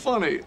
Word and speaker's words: funny: 利用填缝词，打掩护的几秒钟，Ross 才想明白，和正在对自己年龄不爽的年轻女友的老爸解释自己为什么不去找同龄的女友时，他需要的不是轻松幽默，It's funny，而是真诚。